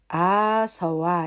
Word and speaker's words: āsava: 그래서 실제로는 아, 서, 워 이렇게 할 때는 그 오리지널 발음대로 하자면은 앞에 것은 아로 발음을 하고요. SA 같은 경우에는 서로 주로 발음이 됩니다.